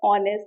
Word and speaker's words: honest: So such words like honest, higher and are, in these words, H is silent and they appear to be pronounced as honest, O.